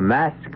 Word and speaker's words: masque: The Mask of the Red Death. The word mask, you should know, is spelled M-A-S-Q-U-E and means masquerade.